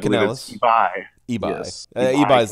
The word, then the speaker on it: Canales: Canales. I cannot pronounce his first name. A lot of people call it eBay, but I eBay, don't think that's correct. I eBay believe it's Canales, eBay.